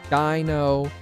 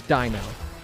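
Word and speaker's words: Deino: Dino, Zweiles, Hydreigon. That's how I pronounce those. You pronounce them differently, perfectly fine. I don't care. But that is how I pronounce them. Because German. So this is Dino.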